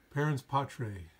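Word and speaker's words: parens patriae: i'll zoom in here parentspotray it's how you uh pronounce that and i'll kinda zoom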